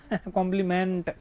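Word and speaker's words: complement: हो गया भी क्या, कॉम्प्लीमेंट। तो this is not meant, it's मंट, ठीक है।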